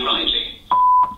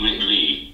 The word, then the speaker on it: Ridley: out from the crowd hello i am lee riley can i make it say my name properly relay really hello i am lee ridley also known as lost voice guy and i